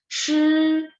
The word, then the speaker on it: 吃: Nah, CHI, tapi bacanya bukan CHI tapi shi ya. Jadi lidah diangkat terus ada angin. 吃，比如说吃饭的吃，oke. Maka 迟到 itu terlambat, telat, 迟到 oke. 吃 makan, 迟 nada dua, 迟到 kalau 吃 nada satu.